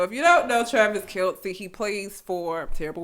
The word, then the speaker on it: Kelce: Kelsey. I'm going to say his name wrong. Travis Kelce.